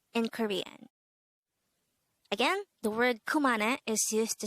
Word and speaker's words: 그만해: means stop it in korean again the word kumana is used to say stop it or enough